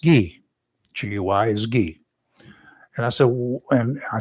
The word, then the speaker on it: Guy: have asked him if his name was really key or Guy because I guarantee you it was Gee. They just they just dumped the French pronunciation.